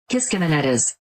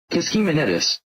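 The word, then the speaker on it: Kiskiminetas: Using various online pronunciations, this is how it really sounds. Kiskimenetas. Kiskimenetas. Kiskimenetis.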